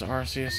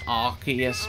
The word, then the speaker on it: Arceus: I think they're done with Legends Arceus at this point. That's pronounced Arceus, mate. That's not. You've been deceived into not saying Arce all these years.